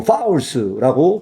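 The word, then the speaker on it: Forargelse: 여기서 G 발음이나 R음은 거의 대부분 안 납니다. 그래서 어 파울스라고 발음이 나는 단어가이 실적입니다.이 파울스라고 하는 단어가이 실인데요.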